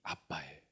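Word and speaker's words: Abba: 알파가 성경에서 아버지란 뜻이에요 근데 발음이 우리나라랑 똑같아요 발음이 아빠예요 그니까 유대인들은 아빠를 아빠라고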